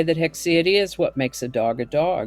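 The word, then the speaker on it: haecceity: e t y and pronounced with hex sound or hick sound although hick or heck they sound pretty much the same to me hix hexi is a noun that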